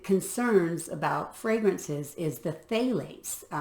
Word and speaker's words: phthalates: of the big concerns about fragrances is the phthalates it's p uh pH uh I'm sorry p h t h is how it's spelled p-h-t-h-a-l phthalates and they are known endocrine disruptors and the